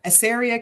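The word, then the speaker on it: Assaria: So, Stephen Johnson was born and raised on a cattle farm and grain farm near Asaria, Kansas. Am I pronouncing that correctly?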